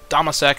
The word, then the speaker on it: Dammâseq: the game here but playing as domasek that's how I'm going to be pronouncing it just because it's easier to say with the domaseki culture